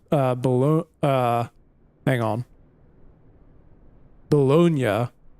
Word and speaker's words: Bologna: Bel uh hang on Bonia I always want to say baloney cuz cuz like growing up isn't it spelled the same way I'm I'm guessing that